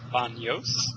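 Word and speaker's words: Baños: um BOS Ecuador um which also has an accent above the or not an TI above the N so it's pronounced uh BOS almost like there's an i or a y there um it is on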